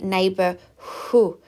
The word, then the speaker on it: neighbourhood: Now, in the word neighbourhood, we don't actually pronounce the H as a H. It is more of a neighbourhood.